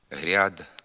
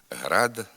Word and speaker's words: град: тхір четвер гірки морква у частині лівобережних наддніпрянських та слобожанських говорів пом'якшується звук р перед а в окремих словах гряд квартиря коморя макитря ряма така вимова також є діалектною ненормативною слід вимовляти град квартира комора макітра рама тепер зробимо вправи з